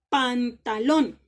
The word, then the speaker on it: pantalón: listo pero por ejemplo si yo digo pantalón pantalón cual es la sílaba tónica pantalón en los muy